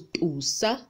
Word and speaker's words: tusa: Next is the letter T, which we pronounce with a pop. The example is tusa, so T is t, not t. We only get to pronounce it t when there's an H after the T. So if it's just the T without the H, it's tusa, which means praise.